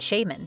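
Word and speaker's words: Shamen: Will Eat Itself and The Shaman (pronounced shay-men). Couple this with access to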